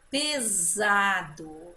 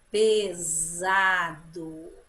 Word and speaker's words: pesado: Pesado. Olha aí, mudou o som do S. Pesado. Olhe bem, que som que teve o S agora? Hein? Que som que ele fez? Pesado. Som de Z.